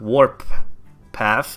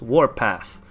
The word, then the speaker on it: Warpath: It's not Warp Path, it's Warpath.